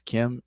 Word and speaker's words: km: a word Kim that we transliterate as KM, and we pronounce it as Kim in the language.